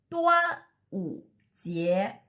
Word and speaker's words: 端午节: The Chinese pronunciation is killing you. 端午节.